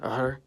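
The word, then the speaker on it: Р: In Cyrillic, the letter's called R, and it makes the R sound.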